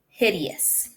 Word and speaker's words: hideous: the it's at okay so it's not hide its this is hid so it's it this e is gonna be a long e hid e s hideous probably heard that word